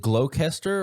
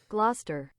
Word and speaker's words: Gloucester: Gloucester. No. Gloucester. It's not that. Really? Gloucester? Gloucester. So the C silent? No. C is pronounced as S. The S is silent? Gloucester. The S is silent. Gloucester.